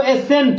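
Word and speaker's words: ascent: और भी है, जैसे यहां पर है इसको एसेंट, क्या बोलते हैं, एसेंट, एसेंट नहीं बोलेंगे, इसको क्या बोलेंगे, सी को हटा दो, सी को हटाने के बाद हमको क्या बचेगा, SECENT, सेंट।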